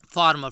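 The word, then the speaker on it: former: फार्मर यानी किसान होता है, और फॉर्मर यानी क्या होता है, पूर्व।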